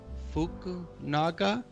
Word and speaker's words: Fukunaga: No, say it like Fukunaga.